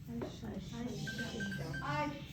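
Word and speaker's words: الشمس: अलिफ लाम प्लस शम्स, तो क्या बनेगा? अशम्स। अश, इसके ऊपर शब्द आ जाएगी, ठीक, अशम्स।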